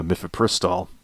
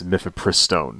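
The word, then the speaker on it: mifepristone: this drug you know mifipristol right or sorry um it is not it's not that it's miffapristone that's how you pronounce it I will learn how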